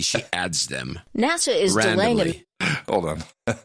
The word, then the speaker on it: NASA: is nasa national no it's actually nasa but the woman on npr pronounces it natsa okay and along with this one she's a weeknd woman and she's mispronouncing she doesn't know that nasa is nasa she is i mean